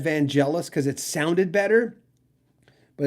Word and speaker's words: Vangelis: knew how to say it but it was vangelis but i'm on tape many times in the early days of probably this video or on the radio in these in the 80s i would say vangelis no one called once to correct me back